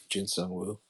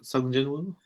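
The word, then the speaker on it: Sung Jinwoo: I saw the change in character progression with Jin Sung Woo.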